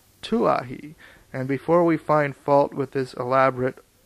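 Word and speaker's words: Kawaihae: In due course of time our journey came to an end at Kwahi, usually pronounced Tuahi, and before we find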